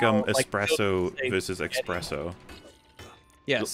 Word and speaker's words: espresso: someone went like yeah with my accent espresso is the drink expresso is what you call italians talking oh like espresso okay